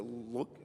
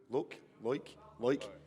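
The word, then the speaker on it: Loïc: when we were in the refectory, is it Luke? How do you pronounce his name? Loik?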